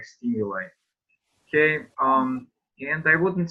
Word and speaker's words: stimuli: Yes, that's the Greek origin of the word. So that is why we pronounce like stimuli.